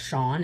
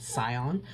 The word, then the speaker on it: Sion: Now that I know that it's pronounced Shawn and not Scion.